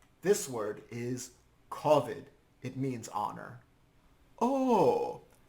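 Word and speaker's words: כּבֿוד: so or God forbid kovid this word is kovid it means honor oh kavod yes but in the Ashkenazi pronunciation it's kovid which is related to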